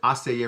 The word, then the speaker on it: essayer: Essayer, we tend to pronounce it essayer rather than essayer, meaning to try.